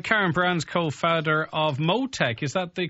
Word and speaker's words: Motech: Right, Karen Brown's co-founder of Motech. Is that the correct pronunciation of the company, Karen?